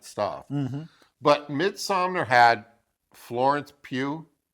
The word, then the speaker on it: Pugh: But Midsommar had Florence Pugh. You say her name Pugh? It's Pew, like Pew Pew.